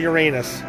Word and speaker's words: Uranus: It's actually Uranus. Okay. Okay, now I'm actually kind of happy. Now I don't feel so bad that I was saying it wrong.